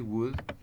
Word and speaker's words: would: También incluye una l la o y la l no suenan Únicamente se pronuncia W sí I would Cook es Yo cocinaría